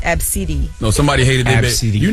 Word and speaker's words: ABCDE: Somebody's name is ABCDE, pronounced Absidi.